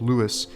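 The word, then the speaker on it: Louis: is now an aspiring model and Louie now pronounced Lewis is an incel who Vlogs about his many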